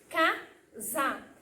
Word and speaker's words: casa: Nesse caso, casa se escreve com S com A, casa. Só que esse S, gente, tem um som de Z, tá bom?